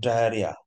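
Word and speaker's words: diarrhoea: না দুইটাই ই এখানে, ডায়রিয়া দুটো বানাই সঠিক, এইচ ও ইয়ে ডায়ার হইয়া এটাও সঠিক, আবার ডায়ার হিয়া এটাও সঠিক, উচ্চারণ একটাও ডায়ার হইয়াও না ডায়ার হিয়াও না, উচ্চারণ ডায়রিয়া RH, খেয়াল রাখবেন এটা ইম্পর্টেন্ট, পরীক্ষায় প্রচুর আসে।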